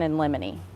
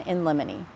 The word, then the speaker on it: in limine: And so, these two attorneys filed what we call a motion in limine. And that's spelled I N L I M I N L I M I motion in limine.